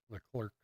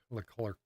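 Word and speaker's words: Leclerc: the best they can be um Charles Leclair the clerk the clerk that's how you say his name 17-75 for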